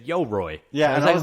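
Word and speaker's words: Yoroi: Before we move on to Cardano Summit, Yo-Roi. That is how you pronounce the wallet.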